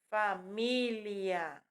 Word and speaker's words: família: Porém, a pronúncia correta e a escrita é família, tá?